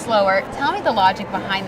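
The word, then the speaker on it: Slowre: brand is really unique the name is actually spelled SL o w r e even though it's pronounced slower tell me the logic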